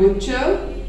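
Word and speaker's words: butcher: बुचर, गोश्त आप बनवाते हैं कसाई से, उसको कहते हैं बुचर। इसमें टी लिखा जाता है बट टी प्रोनाउंस नहीं किया जाता।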